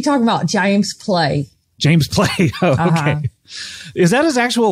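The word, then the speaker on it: Pley: maher i'm actually talking about james clay james play okay is that his actual last name jamesplay but he spell it p-l-e-y oh okay so one letter off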